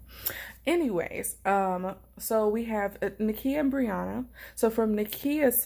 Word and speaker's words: Nakia: I want to apologize if I'm mispronouncing Nakia, but I think it's Nakia and not Nakaya.